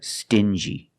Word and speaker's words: stingy: stingy these two words have the regular n Sound um like juice together stin G together stingy or din G together